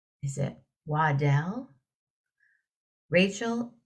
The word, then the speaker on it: Waddell: Waddell? Yes, Waddell, yeah.